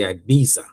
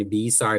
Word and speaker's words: Ibiza: 2 days in Again, a lot of people have different pronunciation of it. I'm Jamaican, so I'm just going to say Ibiza. I don't know what your pronunciation is. Call it how you want to.